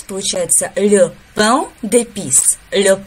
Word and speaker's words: pain d'épices: Слово pain, оно переводится как хлеб. Его нужно произносить через нос. Получается le pain d'épices, le pain d'épices.